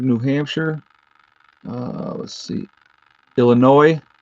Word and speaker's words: Illinois: hampshire uh let's see illinois i know the s is silent sorry illinois california let's go buffalo